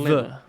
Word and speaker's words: sliver: It's not with a th, it's with a v. Sliver.